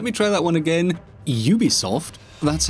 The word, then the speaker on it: Ubisoft: Ubisoft? That's how it's pronounced, right?